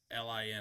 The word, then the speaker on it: Xiaolin: It's spelled weird. It's Xiaolin. What the fuck? Can you say that Xiol? Yeah, Xiolin, I believe. I might have got that wrong, but Google. No, you're right.